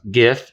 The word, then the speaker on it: GIF: Let's see, our image format is obviously GIF, and it's pronounced GIF, not GIF.